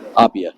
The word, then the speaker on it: Appia: And how do you pronounce it? Is it Appia? Appia.